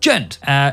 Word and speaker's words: Djent: And that is, of course, Djent, or as it's meant to be pronounced, Djent.